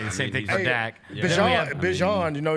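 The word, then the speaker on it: Bijan: Bjon, you know, you got to pronounce his name right now. He said his name is Bjon, not Bjon.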